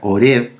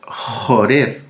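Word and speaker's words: חורב: o monte jored orev porque las biblias en español sale con h o r e de larga orev pero en el hebreo es jorev porque se escribe con la letra j sí jorev Y aquí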